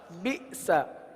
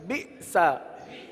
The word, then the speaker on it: بئس: با حمزہ زیر بی، سین زبر سا، بئس. کیا پڑھیں گے؟ جھٹکا دے کر پڑھیں گے. بئس.